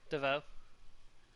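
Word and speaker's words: Davaux: properly mandrake it's d-a-v-a-u-x give up DeVoe the X sounds like an o yeah actually silent a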